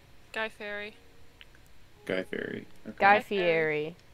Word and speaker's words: Fieri: I forgot that I have a fish called Guy Fieri.